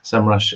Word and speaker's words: SEMrush: comparing visibility and SEMrush, is that how you pronounce it? Yes, SEMrush or or whichever tool it is, basically, with